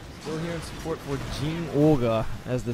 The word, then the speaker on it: Zinogre: It's not Jinoga. Yeah. It's Jin Olga.